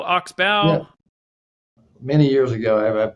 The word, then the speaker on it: Oxbow: you Alan glad to be here am I pronouncing that correctly is it Oxbow Oxbow many years ago I had property up in